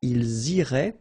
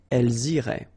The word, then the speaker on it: iraient: if you look carefully, you get A-I-E-N-T. Okay, but then phonetically it goes like E. Okay, so technically these form and these forms here are pronounced the same way, and it goes like irait.